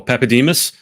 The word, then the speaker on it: Papadimas: for today is now how do I pronounce this pepus yes not many people get that pronunciation right